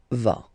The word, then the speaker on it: vas: Same thing here, final S not pronounced. Tu vas.